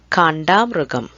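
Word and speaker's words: കാണ്ടാമൃഗം: Or it is also called a slight difference in pronunciation. You can also say Kanda. So the A sound after Ka, the first letter, it can be Ka. Kandamrugam or Kandamrugam. Both denotes the same animal.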